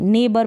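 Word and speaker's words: neighbour: तो यहाँ पर भी जी एच को नहीं प्रोनाउंस कर रहे हैं, नेबर पढ़ रहे हैं, क्या पढ़ रहे हैं, नेबर, नाइट पढ़ रहे हैं, टी भी यहाँ पर कॉन्सोनेंट है और बी भी यहाँ पर कॉन्सोनेंट है। इस तरीके से जी एच ऐसी कंडीशन में साइलेंट रहता है, इसको हम प्रोनाउंस नहीं करते।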